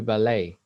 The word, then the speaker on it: ballet: So why doesn't Billy's dad want him to do ballet? Ballet, that's the pronunciation.